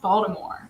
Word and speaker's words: Baltimore: Hey, I forgot that it's pronounced Baltimore. I gotta be better with my pronunciation of the city, right? Right. I think if you're from Baltimore, you don't pronounce that T so hard.